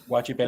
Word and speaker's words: Guachipelin: How you pronounce that? Guachipeline.